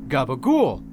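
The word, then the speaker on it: gabagool: deli meat you know cap Colo which if you don't know is the original way to pronounce Gaba goul every time someone said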